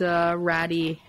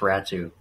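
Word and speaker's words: Räty: Losing that prospect, Ratty, and, you know, even a first rounder, conditional first Bolivier pick. And Atu Ratu, or yeah, so Atu Ratty, yeah, it's apparently it's actually pronounced Ratu.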